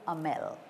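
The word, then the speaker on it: Hamel: so we must say Monsieur am L because the H is a little silent its mute make notes please you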